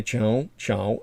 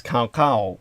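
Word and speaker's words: Cao Cao: as i said uh most people who would see the spelling of his name in romanization would think it was kao kao but that's really it probably the brits would pronounce it like that that's not how the chinese pronounce it um most of the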